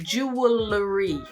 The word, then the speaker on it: jewelry: it's supposed to sound the easiest way is to just break it into two June really read sounds a bit